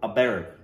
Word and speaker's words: Abheri: The raga they're playing is called Abheri. A is pronounced ah as in almond, ah, the ascending scale.